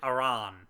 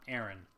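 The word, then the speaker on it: Aran: main character right and by the way I pronounce it aan not Aaron because Aaron is an actual normal name Samus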